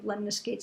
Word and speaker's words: lemniscates: Lemniscates, I always think of lemniscates as something that rhymes with figure eights.